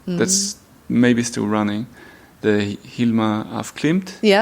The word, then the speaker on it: Hilma af Klint: The Hilma af Klint. Yeah. Is that Am I saying it right? Hilma af Klint.